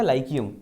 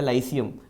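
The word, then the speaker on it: Lyceum: वगैरह पढ़ाए जाते थे, उसका नाम था लाइकियम या लाइसियम, दोनों में से जो प्रोनाउंसिएशन आपको सही लगे।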